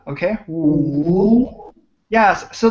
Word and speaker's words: 五: 五. Good. 非常好，非常好。五. Okay. 五. Yes. So this is a tricky one because it has the third tone in Chinese.